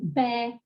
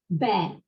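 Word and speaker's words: βῆ: The pronunciation of eta, though, is very, very clear. And this is what I would really like to show you, because in fragments of Attic comedy, we've got sheep saying bear, bear. And that is written beta, eta, circumflex, beta, eta, circumflex. So bear, bear.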